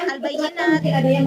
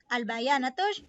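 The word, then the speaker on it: البيانات: Tadi Eka itu bacanya al-bayyinat, itu bacanya adalah al-bayanatus syakhsiyah.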